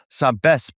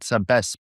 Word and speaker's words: Sabesp: It's Sabesp. So you have to say the P at the end like that. Sabesp.